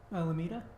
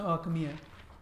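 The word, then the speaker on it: Alchemilla: Alameda? Alchemia? Oh, Alchemia.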